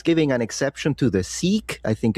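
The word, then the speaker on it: Sikh: But this guy is giving an exception to the seek, I think it's pronounced, to carry swords.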